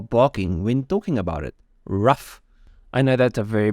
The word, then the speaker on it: RUF: stupid name and then I Googled it to make sure that I'm like pronouncing it correctly and they say it pronounce it r u h f so literally rough by the way in